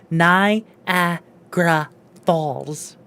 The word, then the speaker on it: Niagara Falls: This is why you don't say whatever he just said and you say Niagara Falls.